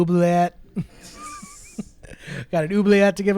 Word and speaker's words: oubliette: The I know what oubliette is. I played Yeah. more of the second half of the word is silent. I'm pretty sure. No, that's wrong. It's French, so Sure, that's wrong. oubliette.